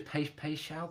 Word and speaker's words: Paixão: Is that I think I've pronounced it right? Yeah. It was Paixão.